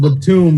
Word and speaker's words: Batum: I forgot it's pronounced Batum.